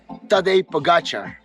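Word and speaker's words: Tadej Pogačar: we pronounce it like it Tadej Pogacar.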